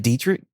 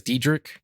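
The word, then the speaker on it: Deitrich: And then you said Dietrich? Yeah, I think it's Diedrich. I think that's how you say his name.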